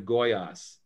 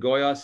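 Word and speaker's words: Goiás: little town called abajanya in the state of goyas and goyas is spelled g o g-o-i-a-s and it's um it's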